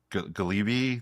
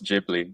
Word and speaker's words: Ghibli: this uh and I'm gonna like mispronounce it totally. It's the galibi. The galib. Oh, it's Jibli.